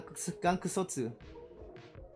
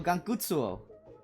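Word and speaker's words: Gankutsuou: Gang Gangotu. Oh, Gangutsuo. I always said it wrong until now.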